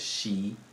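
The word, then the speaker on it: xi: I for example like X I will be pronounced as she in Chinese but CH I will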